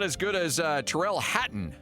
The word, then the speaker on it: Tyrrell Hatton: I'm not as good as uh Tyrrell Hatton. Am I pronouncing that correct? Yeah, Tyrrell Hatton. That's correct.